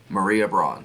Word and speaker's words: Mariabronn: Is that how you pronounce it? Let me make sure. Mariabronn, yeah.